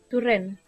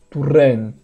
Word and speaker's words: Torrent: Turren. Turren. Ó, de novo. Lembra que esse O aqui tem som de U? É a mesma coisa. Esse aqui vai ter som de U também.